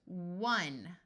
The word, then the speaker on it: one: and this word both have a w sound before the O as a short u sound so this word is one like the number one this e doesn't do